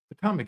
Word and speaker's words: Potomac: Potomac, yeah.